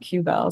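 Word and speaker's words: WQBEL: limitation um we just we don't pronounce the W when we shorten that Q Bell so it's just the Q Bell instead of the t-bell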